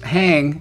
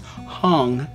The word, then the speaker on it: Hang: It's hang, spelled H-A-N-G, is actually pronounced hung, and it's Swedish for hand.